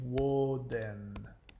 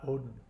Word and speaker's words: Woden: But bear in mind that Odin is not his original name. That is the Norse dialect pronunciation. His name is actually Woden, not Odin.